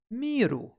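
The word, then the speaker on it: 見る: to remember it again because it's pronounced miru and what is mira good for well you can see yourself in the mirror that's how we can remember miru let's move on this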